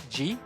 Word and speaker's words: pellizcar: Pellizcar. G. Scar. Pellizcar. Oh, it's almost like leave a scar.